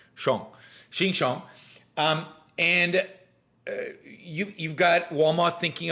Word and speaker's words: Xinjiang: It's pronounced Xinjiang.